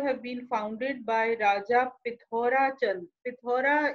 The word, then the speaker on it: Pithora: been founded by raja pithora is a local pronunciation of prithvi so the sanskrit word prithvi becomes pithora in the local dialect so in so the